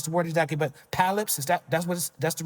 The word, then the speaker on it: polyps: And I don't know how to pronounce the word exactly, but polyps, that's the right pronunciation? Yeah, polyps, yeah.